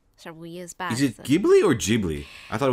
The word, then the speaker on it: Ghibli: It's Ghibli.